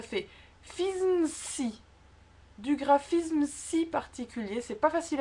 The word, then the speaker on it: particulier: ER à la fin du mot c'est toujours E. Absolument pas de prononciation du R.